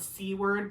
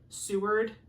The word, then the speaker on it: Seward: I think one of the ones I butchered was like I said C word, but it's Seward.